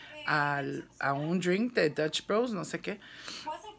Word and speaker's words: Dutch Bros: vlogs de Dutch Bros, am I saying it right? Dutch Bros. Me regañaron porque un día dije Dutch Brothers.